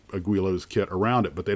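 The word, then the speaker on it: Guillow's: They don't do it like building a Guilos, and I think it's Guilos, I believe is the proper way to say it.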